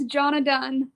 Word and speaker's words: Johnna Dunn: Jonna Dunn, right? Is that close? Yes, Jonna Dunn.